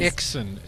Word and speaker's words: XSYN: will unmute you guys exen is how you say it exen is how people say it and I'm sure it